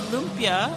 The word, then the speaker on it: lumpia: So lumpia, right? That's how you pronounce it.